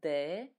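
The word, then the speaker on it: д: is what looks like letter they sound like the first sound in the word dog in English I know doesn't make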